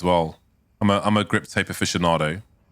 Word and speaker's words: aficionado: Before I knew how to pronounce aficionado, I said aficionado. Oh no. Yeah, I didn't know. Because, you know, there's a lot of words like you read in books and you think you pronounce them one way, but they are pronounced another way. So I said aficionado instead of aficionado. I mean, it's an Italian word.